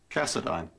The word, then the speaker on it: Cassadine: big chunk of cash name rhymes with asinine Cassadine oh yeah so how